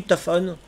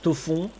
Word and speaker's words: Tophone: Oui, je pense qu'on dit... Oui, Tophone. Je pense pas qu'on prononce à la française Tofon.